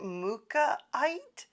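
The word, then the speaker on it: mookaite: And uh yeah, so another crystal that I picked up from the little store is I think you pronounce it mukaite. M O K A I T E.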